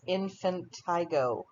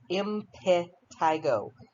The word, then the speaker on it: impetigo: swelling and throw those toothbrushes away impetigo often mispronounced as infantigo it's not it's impetigo it's a secondary bacterial infection that's caused by